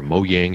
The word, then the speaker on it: Mojang: they're the that is what's so good about mojang or mo yang however you want to pronounce it they're just they just welcome that